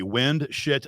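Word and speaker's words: Windschitl: The easiest way is to do it phonetically. Windshit.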